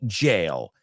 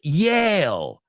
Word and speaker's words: jail: Just be careful you don't pronounce it. Yale.